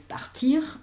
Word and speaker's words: partir: ese r final, pero en el resto de los verbos sí pronunciamos. Quiero decir que es partir. Y yo esta r si la pronuncio.